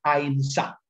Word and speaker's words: ahimsa: o que se denomina ahimsa, o En el sánscrito antiguo se debe pronunciar ahimsa, que significa no dañar,